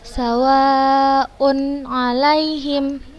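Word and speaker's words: سَوَاءٌ عَلَيْهِمْ: Sawa'un 'alaihim. Dibaca jelas.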